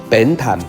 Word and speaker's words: Bến Thành: Chợ ẩm ướt gọi là Chợ chợ bến thành bến thành "bến", âm gần với bên hơn, "bian" có nghĩa là bến , và thành gần với âm hơn.